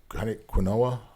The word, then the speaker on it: quinoa: And I've never eaten quinoa.